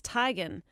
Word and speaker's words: Teigen: her mom confirmed yes that is how to pronounce our last name it's Tigan to Rod Taylor is one of many athletes